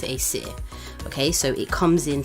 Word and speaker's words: Acesir: I didn't come up with the name, Acer. just saying, but we pronounce it Acer.